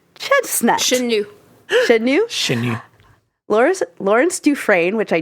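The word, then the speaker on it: Chenut: And the music was by Jean-Marc Chesnut. Chenu. Chenu. Lawrence Dufresne, which I do know how to pronounce because I have a friend Because with of that last Shawshank name.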